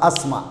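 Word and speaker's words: asthma: aamusinaya marka t dani way aamusaysa waxay noqonaysa asma asma okay tiidan waxa ka hormaray s iyadana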